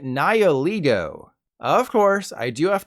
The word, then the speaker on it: Nihilego: I always called it Nihilego, like Lego my ego. Turns out, I should have been calling it Nihilego.